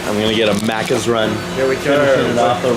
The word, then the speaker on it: Macca's: That's Macca's.